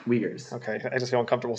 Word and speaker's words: Uyghurs: how do you pronounce it? Uyghurs. Uyghurs.